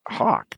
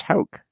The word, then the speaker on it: Hauk: probably saying it wrong it just looks like hawk to me but it's hulk you're not you know